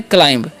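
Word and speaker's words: climb: लोग को ठीक है बी जो है यहां पर साइलेंट होता है इस बात का आपको ध्यान रखना है क्या पढ़ना है क्लाइम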